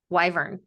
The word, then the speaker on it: wyvern: Doing pronunciation. All right, here we go. Wyvern.